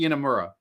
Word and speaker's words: Inamura: I know I I know I have trouble pronouncing it myself and uh it's it's actually uh Amura so yoshiki inamura there yeah yeah that guy because I cannot